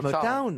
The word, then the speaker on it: Motown: Comment on doit dire Motown. Oui, oui, Motown. it's Motown, Motown. oui, je dis bien Motown. Oui, oui, oui. Les sanglots longs de Motown. Ouais. Town, you know, you have to pronounce Motown.